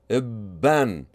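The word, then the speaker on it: بًّا: How do you pronounce this? Bin, bin. How about this one? Ibun, ibun. And how about this one? Ibban, ibban.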